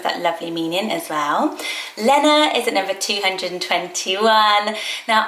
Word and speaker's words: Lena: my name list but Henrik with is more used in scandinav and he sort of says Lenna Lenna sort of adds an extra bounce into the e um and then I